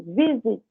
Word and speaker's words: visit: Agora, se eu tiver consoante, vogal, consoante, mas não for na sílaba tônica, por exemplo, visit, visitar, a sílaba tônica é a primeira, tá vendo? Visit.